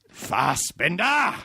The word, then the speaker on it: Fassbender: Michael Fassbender. Louder. Louder. More intense. Yeah. Fassbender. That's better. Yeah. I put the emphasis on the second one instead of the... Well, I would imagine Americans are like, Fassbender.